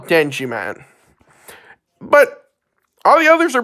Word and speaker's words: Denjiman: the 4th Sentai series, Denjiman, or Denziman. It tends to vary. It depends on pronunciation. I personally call it Denjiman.